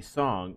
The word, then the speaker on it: Song: Is it really Sung? I'm pretty sure it's supposed to be Song. It's supposed to be spelled like Song. It's a weird typo. Because I remember when it comes to China, there is no Sung Dynasty. There was the Song Dynasty.